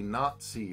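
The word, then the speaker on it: Not-See: basically the the premise of their podcast the nazi party uh which is n-o-t-s-e-e yeah you have to spell it out but basically the premise is justin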